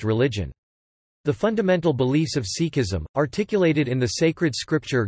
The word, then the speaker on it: Sikhi: Sikhism, Punjabi, Sikhi or Sikhi Sikhi, pronounced ske-i, from Sikh, meaning a